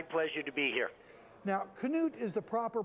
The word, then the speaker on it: Knute: to be here now Knute is the proper pronunciation of your name and your grandfather's name right yes it is it's the Norwegian what's it like to